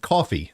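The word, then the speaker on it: Ko-fi: up with uh with coffee as ko dash f i pronounce it coffee uh so basically if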